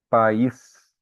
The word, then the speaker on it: país: Então, país, ele vai separar o A do I. Então, vai ser um hiato.